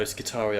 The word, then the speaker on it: Skitarii: No, Skitarii, because it's based off of the Roman, where you have the hard I and hard C. There's no such thing as a soft C in Roman, for example, so you don't